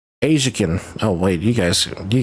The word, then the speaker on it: Aisican: It is pronounced Asakin. It is not isin. It is not. It is pronounced Asakin.